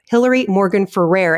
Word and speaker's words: Hillary Morgan Ferrer: want you to know the proper way to pronounce her name is hillary morgan ferrer and do not get that wrong because now